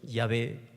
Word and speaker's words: Yahvé: En hebreo esta frase se pronuncia Yahvé o Yahweh, en castellano Jehová.